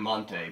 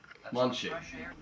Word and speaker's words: Marisa Monte: I'm going to be saying Monte because that's what everyone says here. Marisa Monte. Munchie. If I say it right, nobody listening will know who I'm talking about.